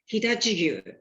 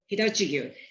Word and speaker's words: Hitachigyu: And when you pronounce Japanese word, you don't use any accent. It becomes all pronounced flat, Hitachigyu, Hitachigyu.